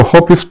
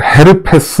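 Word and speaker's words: herpes: 그러니까 여기서 허피스 조스터 할 때 조스터는 허리띠란 뜻이고, 허피스란 뜻은 또 무슨 헤르페스, 우리식으로 표현하면 헤르페스 이렇게 쓰는데, 어느 나라 뭐 틀린 말은 아니죠. 그런데 뭐 그냥 영 믿고 발음으로 해주는 게 낫겠죠.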